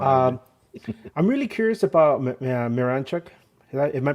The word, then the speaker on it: Miranchuk: yeah that's exactly um I'm really curious about miranchuk am I pronounce on it correctly yeah you got ituk